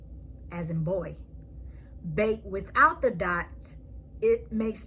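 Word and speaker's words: בית: Bet with a dot makes the sound of a B, as in boy. Bet without the dot, it makes the sound as V.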